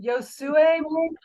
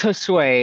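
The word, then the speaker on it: Josué: least this is last is it yosue how do you say your name it's Josue it's Spanish for Joshua so um Josue uh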